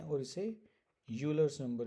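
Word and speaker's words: Euler: Napier's constant भी बोलते हैं और इसे यूलर्स नंबर भी बोलते हैं। Some people read it एज ऑयलर्स number. ठीक है, तो ऑयलर्स नंबर भी पढ़ा जाता है। इट्स बेसिकली प्रोनाउंसिएशन डिफरेंशिएशन, सो वो रीजनल होती है।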